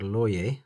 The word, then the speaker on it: Lorier: Welcome to the Falcon from New York-based micro brand Loyer. That's how it's pronounced.